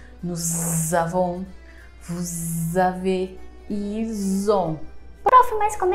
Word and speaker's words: ils ont: Se lá no verbo être, eu falei pra você falar eles são, aqui o foco é ils ont, com som de Z, ok?